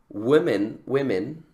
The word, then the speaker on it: women: Women, ¿sí? El plural de woman, que cambia el woman a woman, pero no cambia ese sonido, cambia el sonido de la O, de woman a women.